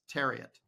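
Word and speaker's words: Thieriot: Max Tariot.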